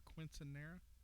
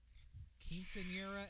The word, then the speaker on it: quinceañera: Was this her quinceanera? Quinceañera, and no.